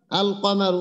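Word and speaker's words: القمر: দুইটার পরে শিন হরফ আছে আর ওইখানে ছিল আল কমারু ওইখানে ছিল কফ এই যে এখানে ছিল আল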